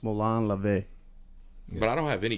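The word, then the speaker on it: μολὼν λαβέ: them it's a direct today direct translation it's pronounced Malan lavay but I don't have any you have any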